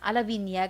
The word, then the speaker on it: Lavinia: Lavinia, gali ang pag-pronounce ni.